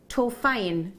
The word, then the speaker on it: Torfaen: Have I pronounced that right? Torfaen, T-O-R-F-A-A-N. It's Torfaen. Torfaen, is it? I didn't think I got it right. I think it's Welsh, isn't it?